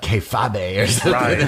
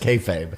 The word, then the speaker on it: kayfabe: fa b ii yeah i wanted to call like k fob a but it's like no it's just kayfabe it's just the entomology